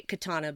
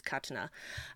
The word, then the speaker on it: katana: Well, I haven't had the patience to sit through Suicide Squad, but she was katana. They say katana, but it's the correct pronunciation of the word is katana.